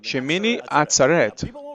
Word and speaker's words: Shemini Atzeret: é um dia misterioso chamado chimene e a pronúncia está certa shemini atzeret sim as pessoas não sabem disso mas se